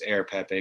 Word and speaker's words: Rare Pepe: that way because the the r really is silent it's air pepe but rare pepe oh